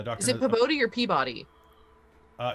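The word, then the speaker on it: Pabodie: is it probably your peabody uh it's spelled p-a-b-o-d-i-e that's yeah that's pabotti that's um okay yeah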